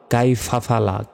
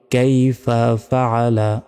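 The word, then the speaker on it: كَيْفَ فَعَلَ: তারপর বলি আলাম তারো কাইফাফালা, কাইফাফালা বলা যাবে না। দেখুন কাইফা একটা শব্দ, ফাআলা একটা শব্দ, তাই একটু আলাদাভাবে উচ্চারণ করতে হবে। কিভাবে? কাইফা ফাআলা, এইভাবে। আলাম তারা কাইফা ফাআলা।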